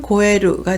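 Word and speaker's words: 肥える: 에루가 나오면 고에루가 돼서 살찌다, 비옥해지다 라는 뜻이 됩니다.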